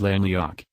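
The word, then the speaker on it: Llenlleawg: is directly related to len leogue lena league roughly pronounced as la leok that appears in a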